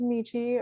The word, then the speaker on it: Michi: um like i said my name is michi rhymes with peachy thank you all very